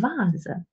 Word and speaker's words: Vase: But sometimes the letter V is also pronounced like Wolf, as in Veranda und Vase.